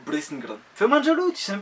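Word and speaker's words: Brisingr: Ah ouais, moi je sais dire Brissinger. Bon, alors déjà, c'est de l'ancien langage des elfes et ça se prononcerait plutôt Brissinger.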